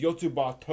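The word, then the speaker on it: よつばと: That is the technical way you should pronounce it, because it is called Yotsuba ampersand, where in Japanese ampersand is to. And the title is Yotsuba To, or Yotsuba And, because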